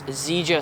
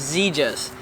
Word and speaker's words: Xegis: Okay guys, so I want to talk about this Zja safe and I have been pronouncing it wrong the almost the whole time, but now I figured out it's ZAS.